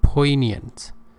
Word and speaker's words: poignant: emotions in a poignant pay attention to the pronunciation poignant we don't have gear sound here poignant performance that thrilled